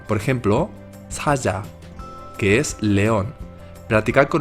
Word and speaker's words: 사자: En medio de palabra suena mucho más suave, por ejemplo, 사자, que es león.